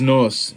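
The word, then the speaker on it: нос: character for nos this one's nos it's spelled hoc in russian the h is an n in russian yuck yuck yuck it's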